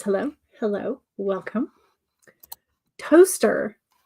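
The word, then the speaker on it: Towcester: Toaster. This is pronounced toaster. Toe. Okay, I get the toe. Toast. Okay, so TOWCE is pronounced toast. Well, I guess TOWCEST is just toast.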